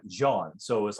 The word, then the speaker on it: Jean: It's like John is kind of how they would pronounce it. And like there was somebody I talked to over in England when I was performing there, and they saw his name and they said Jean Goldkette, and it's kind of